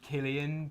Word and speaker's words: Cillian: I'm Cillian. Cillian. Cillian. Lovely to meet you, Cillian. Yeah. Likewise. How do you spell that? You're like Cillian Murphy. Mm-hmm. It's actually Killian, but I'm What's the last name though?